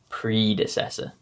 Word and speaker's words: predecessor: Instead of making the eh sound that you would normally make when you see the letter E, you just say it like you're saying the letter E. Evolution, epoch, predecessor.